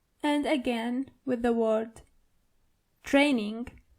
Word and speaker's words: Training: And again with the word training. The German version of it is Training. So you only have to roll your R.